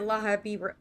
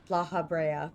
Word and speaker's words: Lahabrea: Damn it, Lahahibra. I can never say his name. La Brea. Lahabrea.